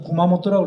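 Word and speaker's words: 熊本: 웅본이라고 써놓고 구마모토라고 그러죠. 요거를 구마라고 읽어요. 구마모토.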